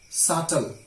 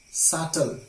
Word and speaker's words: subtle: of silent letter B B is often silent when it is before T I repeat B is often silent where it is before T let's have a few examples that doubt better subtle subtle not subtly so these